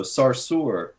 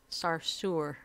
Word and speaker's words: Sarsour: Yeah, well, talk about Sarsour, however you say that woman's name. Because somebody's just said that. Sarsour? Yeah. Like sewer? Yeah. Okay. One syllable, though. Sarsour. Sarsour.